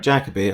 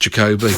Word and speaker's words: Jacobi: And Sir Derek Jacobi. I've never heard of him. I think he's new to the scene, isn't he? Yeah, I think it's pronounced Jacoby, but...